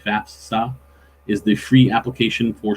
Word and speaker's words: FAFSA: easier to say fast fall but it's faf fafsa fafsa is the free application for student aid years